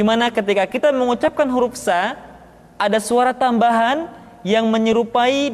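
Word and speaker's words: ث: Berikutnya huruf sa, diucapkan sebagaimana kita mengucapkan huruf sa, yaitu ujung lidah di antara dua gigi seri kita.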